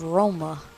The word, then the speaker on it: Roma: capital of Italy is Roma that's how it's pronounced in Italian find a doctor to